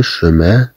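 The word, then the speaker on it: chemin: إذن سي مع أش تعطي الصوت ش، مثلا لو شوفال، مثلا لو شوفال تنطق كالشين في اللغة العربية. نقول مثلا لا شيفغ معيزة، لو شومان لو شومان الطريق، إلى غير ذلك.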